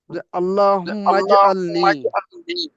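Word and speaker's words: اللهم اجعلني: আল্লাহুম্মা পড়েন আল্লাহুম্মা মানে আল্লাহুম্মা এর মিমটা দিয়ে জিমটা স্পর্শ করবে আল্লাহুম্মা জালনি আল্লাহুম্মা জালনি আরো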